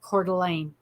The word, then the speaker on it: Coeur d'Alene: Coeur d'Alene, which is spelled Courdalene, and it's pronounced Coeur d'Alene.